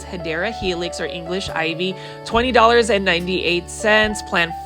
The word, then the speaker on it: Hedera helix: You can see that this is the first Hydra Helix, or the correct way to say it is Hedera Helix, or English Ivy, $20.98.